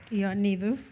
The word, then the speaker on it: Ioannidou: I've been worried about getting your name wrong, Marilena. So is that Ioannidou? Was that right? Ioannidou.